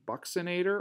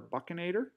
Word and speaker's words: buccinator: red is called the Bucks inator or buccinator or I've heard people pronounce a buchen a der buck or buckle means cheek